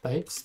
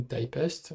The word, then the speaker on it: Typst: je suis intéressé par Types ou Typest si vous préférez, les deux prononciations sont possibles et donc ici vous